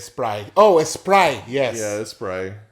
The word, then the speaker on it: Sprite: Not no T on the end of that shit. Right. Sprite. Sprite.